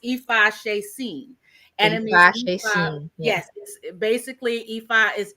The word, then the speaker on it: Ifaseesin: they coming for me like why but it's pronounced EPA Shen and yes basically epha is easy to worship